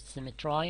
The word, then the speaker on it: symmetry: could frame thy fearful symmetry? Some people pronounce it symmetry in order to have the same sound as I.